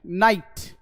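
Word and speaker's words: knight: देखिए, के एन है तो के साइलेंट कर दिया जाता है, के को बोला ही नहीं जाता। हम बोलते हैं नॉलेज, यहां बोलते हैं के साइलेंट, नो, के साइलेंट, नाइट।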